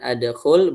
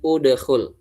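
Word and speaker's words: اُدْخُلْ: Udah berarti dia k ya khnya khnya dah berarti dibacanya udkul. Bukan adkhul, bukan juga idkhul tapi udkhul.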